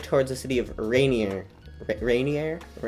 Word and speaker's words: Ranier: Rainier. It's spelled R-A-N-I-E-R, so it's not spelled like rain.